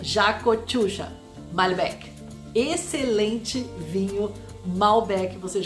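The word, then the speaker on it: Yacochuya: engraçado o pronunciado porque o y aqui na Argentina tem som de J Jau malb excelente vinho malb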